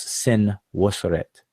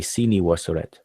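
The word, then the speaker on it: Senwosret: So this is the name of C, or what most people will pronounce Sin Wasoret, but it's actually Sini Wasoret, the man of Wasoret.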